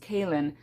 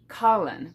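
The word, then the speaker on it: Kahlan: her name is pronounced Kaylin, but for the longest time when I first read the series, I pronounced it Kalin, because that's how it's spelled.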